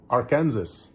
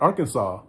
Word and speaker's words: Arkansas: And I think it was Atelea also that says Arkansas, not Arkansas, Arkansas.